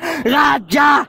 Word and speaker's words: Radja: ng patay at last hindi raha yung pangalan ko ko abnormal radja Ayusin mo ung pronounciation kundi Tanggalin ko ung